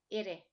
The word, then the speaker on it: ere: Ire. When you pronounce this one, try to make it sound like the word Betty or the word Teddy, like a double D or a double T.